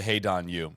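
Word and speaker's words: Hae-ran: Kind of similar story to We got We got to commit to Hey, Donu. It's I don't know why. I don't know why, but that's the that's the pronunciation.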